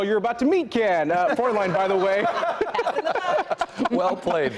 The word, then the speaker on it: Fräulein: Fräulein. Nice job. Yeah. Can you spell it? That's the question. The girl you're about to meet can. Fräulein, by the way.